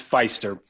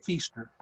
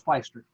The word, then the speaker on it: Pfiester: right kai um it's feister that's that's fine though don't worry around here we pronounce it feaster but it is feister all right and he